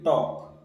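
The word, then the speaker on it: talk: बताइए जो साइलेंट रहेगा देखिए टॉक टी ए एल के टॉक इसमें एल कहीं भी नहीं बोल रहा है तो एल क्या हो जाएगा साइलेंट हो जाएगा ऐसे ही नो के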